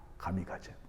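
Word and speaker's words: 神風: 그건 일본식으로 발음하면 뭐냐면은 여러분이 잘 아는 단어예요. 가미가제입니다. 가미가제.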